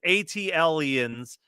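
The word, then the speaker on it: ATLiens: out outcasts atlans uh pronounced atlans uh for future reference yeah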